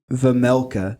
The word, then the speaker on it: Vejmelka: It's Vejmelka. That's how you say it. Let's go. There's a J in there, so I wasn't sure if it was Vejmelka or Vejmelka, but they were saying Vejmelka, so I think it's Vejmelka.